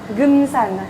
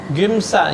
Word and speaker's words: Geumsan: Comment C'est tu une prononces? Gumsan. Gumsan.